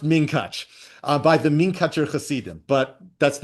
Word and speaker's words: Munkatch: My mother would have pronounced it minkach. Right. Exactly. It's pronounced minkach by the minkacher, but that's not how I float.